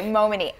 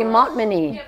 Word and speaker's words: Montminy: Okay, Momini. Mon- Momini. Just think Momini. Momini. So you don't even pronounce the T. Momini. Momini. Yeah, it's French. I was going to say Montminy.